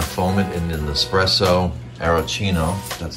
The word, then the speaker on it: aeroccino: yeah we're gonna foam it in an espresso aerocino that's how you say it and um okay